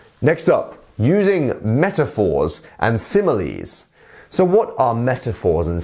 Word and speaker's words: simile: is a simile um so simile actually sounds like the word similar if you actually think about it in that way um and yes it's